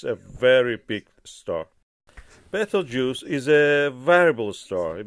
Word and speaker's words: Betelgeuse: The correct pronunciation is Betelgeuse or Abtaljosa, as in Arabic.